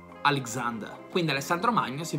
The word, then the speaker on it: Alexander: La stessa cosa succede per il nome Alessandro, non è Alexander, ma Alexander.